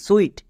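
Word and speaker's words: suite: যেমন এস ইউ আই টি ই সুইট।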